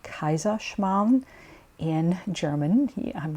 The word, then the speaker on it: Kaiserschmarrn: is a famous Bavarian Austrian dessert it's called kaisa Shan in German I'm not expecting you to be able to pronounce it I spelled for you earlier in